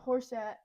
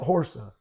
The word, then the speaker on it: Horsa: Vortigern Vortigern I'm going to pronounce it. Vortigern fought Hangist. Um and Horset Horset was killed. Horsa.